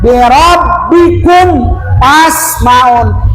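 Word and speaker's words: بِرَبِّكُمْ: Habiskan suaranya, birabbikum fasmaun. Birabbikum fas, begitu bacanya.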